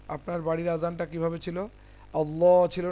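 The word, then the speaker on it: الله: তো কি বলছিলাম যে আল্লাহর লামের পূর্বে আল্লাহ লামের আগে যদি জবার অথবা পেশ থাকে তাহলে আল্লাহর লামটাকে মোটাভাবে উচ্চারণ করতে হয়। যেমন আল্লাহ। আর যদি পেশ থাকে তাহলে সেক্ষেত্রে পেশটাকেও মোটা করে উচ্চারণ করতে হয়।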